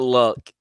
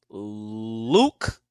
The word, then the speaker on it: Luke: last time man dang it's not luck it's uh it's not luck it's Luke think it's Luke it's